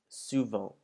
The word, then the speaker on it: souvent: Now you'll notice that this word ends in ENT, and before you were told never to pronounce the ENTs, this word is one of the few exceptions where you would pronounce the final ENT of the word.